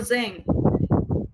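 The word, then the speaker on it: 三千: Nah di sini kita ke ribu ci seng atau zeng gitu ya. Sang N. Eseng N tuh dia kan kalau yen kan pakainya N ya. Seng N berarti 1000 yen. 3.000 dia pakainya zeng gitu.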